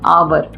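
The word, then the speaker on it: hour: for example of बट एच ओ यू आर आवर account होता है अ प्रभाव उसको रीड करते तो क्या हो जाता है आवे साइलेंट जाता है और उसमें जो आता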